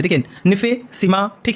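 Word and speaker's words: NiFe: उसको क्या बोलते हैं तो इसको बोलते है निफे ठीक है एन आई एफ ई और यह जो आपको स्पेलिंग लग रही है दो तत्वों से मिलकर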